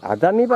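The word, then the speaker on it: 浅海橋: あ、やっぱり浅い海の橋って書いて、あざみ橋って読ませるんですね。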